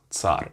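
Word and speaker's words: царь: if you're in english you take like a t and an s after each other that's the way you pronounce this letter for example as in bits bits bits of something bits and an example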